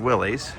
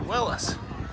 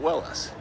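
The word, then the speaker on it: Willys: I'd always heard Willies until I learned that the uh person who started the company pronounced it Willis. Not Willies, but Willis.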